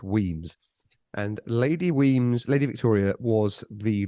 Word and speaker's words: Wemyss: Wemyss, pronounced Weems.